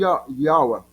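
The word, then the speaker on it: יהוה: A pronúncia hebraica, mais hebraica, Yav. Yav. Com essa última consoante muda. Yav. Yav. Ou então, Yawa, sua pronúncia americana.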